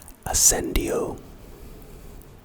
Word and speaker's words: ascendio: of my favorite spells ascendio standard ascendio pronounced aend o asend o it's a charm purpose